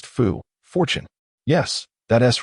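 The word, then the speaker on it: 福: This character is pronounced fu.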